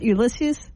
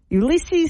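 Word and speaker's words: Ulysses: Ulisses S Grant yes it's not ulyses nope Ulisses Ulisses no wonder so his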